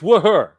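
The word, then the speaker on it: Wuher: It's Wooher.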